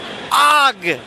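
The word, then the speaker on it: Aaugh: It wasn't until I actually heard it in the cartoon that I knew how you should pronounce that word that you'd always read in the comic strips.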